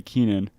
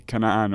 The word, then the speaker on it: Keenan: pronunciation of your name when people don't say Keenan and they do they say can I on or Kenan yeah you kind of